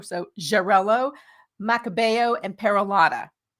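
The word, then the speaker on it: Xarel·lo: Jarello, which is spelled X A L O. So Jarello, Makabo, and Peralada.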